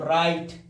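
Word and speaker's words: right: आर आई जीएसटी है तो राइट, एल आई जीएसटी है तो लाइट, यानी जीएस साइलेंट रहती है, जीएच का हो जाए साइलेंट,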